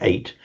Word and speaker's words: eight: And in English, we retain the ch spelling in the GH, but we just pronounce it eight.